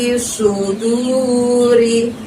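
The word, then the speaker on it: صدور: Lalu ada lafadz suduri, su pakai short di situ, maka bibir kita dorong ke depan ya, seperti orang bersiul ya. Fi fi suduri.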